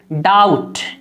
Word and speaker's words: doubt: जैसे मिसाल देखिए डाउट, DOUBT, बी यहाँ पर साइलेंट है, बी को नहीं पढ़ा जाता है, तो असल हमें देखना है OU।